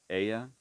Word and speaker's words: Hela: Hela, which that could be pronounced Ella, I suppose, because, well, if it's pronounced in Spanish, H would be silent and the L's would sound like a Y.